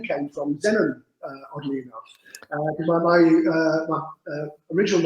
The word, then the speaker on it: Zenon: And so I chose Zenon, just without Paul, Zenon with an X, but no one could pronounce it. It was like Exanon. So I changed it to a Z. So it's just Zenon.